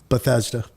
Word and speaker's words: Bethesda: that right like that's such a weird word Bethesda all right I did say it right all